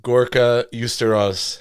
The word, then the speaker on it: Gorka Uztarroz: Gorka Uztarroz. How you doing today, sir? Perfect. I pronounced it right?